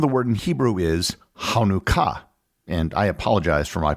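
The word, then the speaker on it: חנוכה: word in Hebrew is hanuka and I apologize for my pronunciation to any Hebrew speakers the first letter of the word in Hebrew is the letter Chet which doesn't easily translate into English as with other Hebrew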